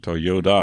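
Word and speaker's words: Toyoda: was changed okay but his last name is spelled t o y o d a Toyota like to yeah like toy like Yoda okay uh the name was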